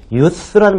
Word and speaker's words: youth: 젊은이를 얘기하는, 지칭하는 youth라는 말만 붙여주시면 돼요. th 발음이라는 거 잊지 마시고요.